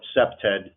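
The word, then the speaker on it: CPTED: Jane Jacobs so crime prevention through Environmental Design cept ed is how you pronounce the acronym what that is is we're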